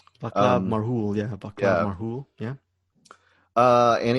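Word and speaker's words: Václav Marhoul: It's by director, I don't know how to say his name, Vadab Marhoul? Vaclav Marhoul, yeah.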